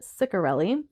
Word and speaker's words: Ciccarelli: That's how the audiobook narrator pronounced it, Ciccarelli.